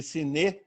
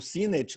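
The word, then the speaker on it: Sinnett: As cartas dos mestres foram publicadas depois da morte de Siné, ou Sinet, como você queira pronunciar, que é talvez a pessoa que mais recebe cartas deles.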